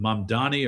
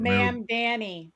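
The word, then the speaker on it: Mamdani: men mandami in uh is it Mamani or Mamani I can't Ma'am Danny. Ma'am Danny. That's what I say.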